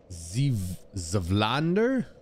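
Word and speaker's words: Zweihander: Zvlander is the pronunciation, so it'll be ZV and then a hard I.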